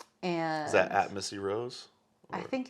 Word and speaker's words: Rohs: it'll come up uh my last name is spelled r-o-h-s it's weird you're like lemon balm Rose yeah absolutely right on